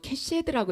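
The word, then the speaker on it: קשת: 근원을 살펴보면 이해가 갑니다 무지개는요 히브리인들에게 있어서 캐시들하고 이렇게 발음을 하고 있어요 그런데이 캐시드가 무슨 뜻을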